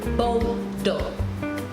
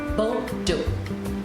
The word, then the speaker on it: Bordeaux: And I have one more, which is Bordeaux. Bordeaux. Bordeaux is spelled B-O-R-D-E-A-U-X.